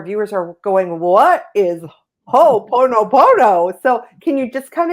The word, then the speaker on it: Ho'oponopono: Ilene's passion and soul purpose herself are teaching conscious heart connection and ho'oponopono, I said it right, An ancient Hawaiian problem-solving process that's a simple but extremely powerful tool for healing.